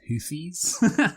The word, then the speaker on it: Houthis: we should do just for a record it's pronounced houes H the yemeni islamist hoies took a stand against Israel recently this at